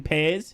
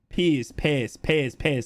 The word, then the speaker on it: Pears: You're pronouncing their keeper's name wrong. Try saying Pears. His dad's a Boro legend. Pears.